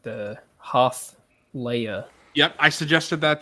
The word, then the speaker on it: Hoth: Let's do the canon pronunciation. Hoth.